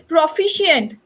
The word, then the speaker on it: proficient: Okay, it's proficient. We write c, but we pronounce like sh.